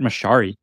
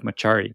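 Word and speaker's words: Mochary: And by the way, his name's pronounced Matt Mochiari instead of Machari.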